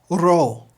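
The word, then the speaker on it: Rho: You don't have to roll it, but you do at least have to tap the top of your mouth.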